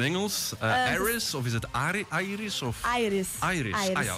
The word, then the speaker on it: Airis: Dus eigenlijk iris is eigenlijk ontstaan van een iris. Een bloem, een iris. En dan daar een A voor gezet. En dan zo aan het Engelsachtig uitgesproken, iris.